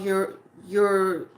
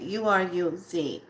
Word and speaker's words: Uruz: But this rune is called Uraza. I want to spell it, say it right. Uruz.